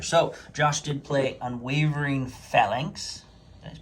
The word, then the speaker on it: Phalanx: So Josh did play Unwavering Phalanx. Did I pronounce that right? Yep, Phalanx.